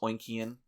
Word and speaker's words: Oinkian: I remember Gates was very steadfast that it should be pronounced Oinkian.